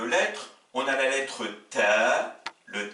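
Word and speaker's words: ت: Troisième paire de lettres, on a la lettre ta, le T, l'équivalent du T français, qui s'oppose au T emphatique qui se prononce ta, et c'est la lettre donc le ta.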